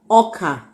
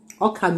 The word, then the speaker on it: ọka: Ọka. Ọka means corn or maize.